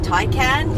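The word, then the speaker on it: Taycan: friendly and jason's got his eye on the tai can is how you pronounce it the thai can um yeah maybe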